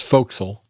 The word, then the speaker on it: forecastle: of The Forecastle that's folkl that's how you pronounce that yeah folkl it was